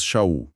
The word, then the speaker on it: Sha'ul: Então, olha, o autor desta carta, que o mundo geralmente chama de Paulo, nós pronunciamos Shaul.